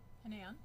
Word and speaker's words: Hanan: So my name is Hanan, pronounced like Ann, Hanan, and I am running for Village of Pelham Trustee.